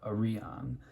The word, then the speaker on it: Arion: And at first I thought this knife, I pronounced it, I think Arion. It doesn't really matter, but pretty sure it's supposed to be pronounced, according to Cerberus, Arion.